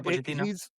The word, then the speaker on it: Pochettino: Well, cuz like Pochettino, I I think that's how you say his name, Mauricio Pochettino. Yeah, Pochettino.